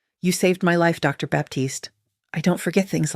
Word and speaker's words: Baptiste: He pronounced it correctly. Baptiste, the French way, the way her father used to say it.